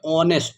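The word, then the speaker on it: honest: A sound का ऑनेस्ट तो एच से तो उसकी स्पेलिंग शुरू होती है इस वर्ड की। लेकिन हम यहां पर साउंड के निकाले ऑनेस्ट ओ ओ ओ आ रहा है।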